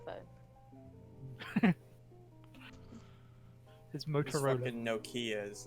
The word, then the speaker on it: Nokia: no Kia.